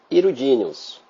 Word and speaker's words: hirudíneos: Olha a pronúncia: oligoqueta, poliqueta e hirudíneos.